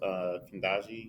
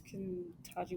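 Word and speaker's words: Ketanji: And then even with the confirmation of Chief Justice Kendaji, did I say her name right? Let me type that because I don't. I think it's Kentaji with a T, right?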